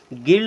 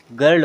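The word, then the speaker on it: girl: अब ये आ रहे बीच में, ये वाला आर आप बना दे, इससे हम पढ़ेंगे गर्ल, यानी कि आई का उच्चारण छोटा आ की मात्रा की तरह हुआ। हमने इसको गिल्ड नहीं पढ़ा, हमने इसको गर्ल पढ़ा।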